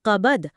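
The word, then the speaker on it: كَبَد: এই আয়াতটি এই কাবাদ বা কঠোর সংগ্রামের কথা বলা হয়েছে। এই শব্দটার উচ্চারণটা গলার ভেতর থেকে আসবে, কফ দিয়ে, কাবাদ।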